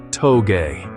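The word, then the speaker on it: 峠: The story of drifting begins on the winding mountain roads of Japan known as tou pronounced toge.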